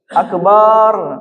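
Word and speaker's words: أكبر: Ya, makanya jangan dipanjangkan Allahu akbar. Salah itu. Beda artinya. Artinya bisa berubah. Kalau akbar itu bedug apa? Bedug itu. Bedug atau bedug enggak? Akbar Allah itu ya penghinaan ya. Jadi jangan dipanjangkan akbarnya, akbar.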